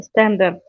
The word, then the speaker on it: standard: As usual, we say in standard. It's not correct. The standard. R is silent.